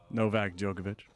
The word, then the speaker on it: Djokovic: Novak Djokovic.